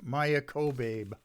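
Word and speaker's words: Maia Kobabe: on last week's show maya kobe that's how she pronounces her name k-o-b-a-b-e and i've got this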